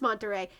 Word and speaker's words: Monterrey: Okay, yeah, so it is pronounced Monterrey. It's just Monterrey, with you got the Yes, I'm a Spanish pigeon.